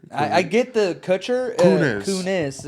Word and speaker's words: Kunis: Kunis is not Coochie. It's close.